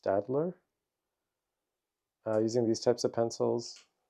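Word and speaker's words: Staedtler: I've been using, I believe it's pronounced Stadler, using these types of pencils, great for drawing.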